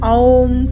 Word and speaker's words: ओम: इसका उच्चारण एक विशेष तरीके ओम की आ, उ, मा मात्राओं सहित ओम के रूप में करेंगे।